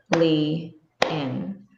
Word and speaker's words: Lilian: So if the word is Lilian, li, in, that's 3 beats. And the stress is on the first beat, li, in.